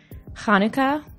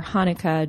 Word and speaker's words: Hanukkah: say Hanukkah in English you can say it either Hanukkah with that throaty sound in the beginning or Hanukkah just with an H and the the more